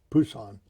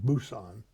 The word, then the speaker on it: Busan: And then we went to Busan, which is now pronounced Busan.